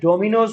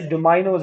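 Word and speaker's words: dominoes: Billiards game का name है, darts, bowls, डोमाइनोज या डोमिनोज भी पढ़ते हैं आप इसको, वैसे डोमाइनोज है, प्रोनाउंसिएशन चेक कर लीजिएगा।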